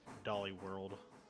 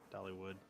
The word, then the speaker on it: Dollywood: Tennessee nice near dolly dolly world Dollywood Dollywood say it right damn it you put